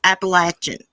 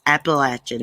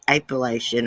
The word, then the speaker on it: Appalachian: say how they say appalachian or something it's appalachian that's the way we pronounce it appalachian not appellation or however they say